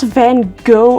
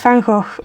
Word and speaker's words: Van Gogh: It's not Van Gogh or whatever you want to say, it's Van Gogh, okay? Like, that's the Dutch way of how to say it, so you're wrong.